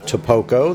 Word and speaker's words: Tapoco: Yes, by the way, that's the correct way to say it. Tapoco, that's what the natives told us.